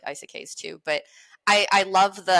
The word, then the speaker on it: isekai: I just like I like portal fantasies, which I guess I should like isekais too. But I love the icy cakes. How do you pronounce it?